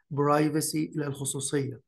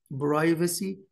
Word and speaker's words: privacy: negative impact on privacy privacy you can pronounce it privacy or privacy privacy or privacy privacy